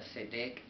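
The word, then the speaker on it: צדק: a al h66 64 el cual se pronuncia cedec y pues es esta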